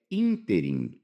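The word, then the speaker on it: ínterim: A terceira palavra é interim. Ó, interim é uma palavra proparoxítono. Todas as proparoxítonas são acentuadas.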